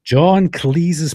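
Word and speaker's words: John Cleese: John Cle's person.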